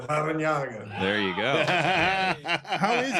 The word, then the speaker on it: Larrañaga: There's a double R, too, right, Coach? So you have an R in there also. Can you roll your R's? Yeah, Larrañaga.